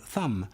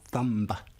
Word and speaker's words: thumb: These are words where we pronounce one letter, but not the other, like knife, not knife, gnome, not gnome, and thumb, not thumb.